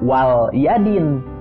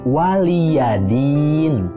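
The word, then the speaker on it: وَلِيَ دِينِ: Jadi bukan lam sukun Jangan dibaca Wal Yadin tapi waliyadin ya Din itu yang asalnya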